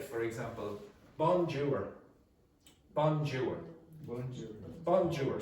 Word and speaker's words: bonjour: You're supposed to pronounce in the nose and bonjour.